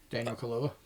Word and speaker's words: Daniel Kaluuya: Like, the main character, I can't pronounce that fucking dude's name for the life of me. Daniel Kaluuya.